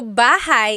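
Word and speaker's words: bahay: Shir said I always make a mistake with bah and so bahigh is house buhai is your life.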